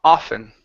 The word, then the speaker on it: often: Instead of often, it's ah ah ah often.